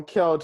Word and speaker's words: Kjelt: just k lt uh so it's just how it's pronounced no worries okay well kelt i feel like we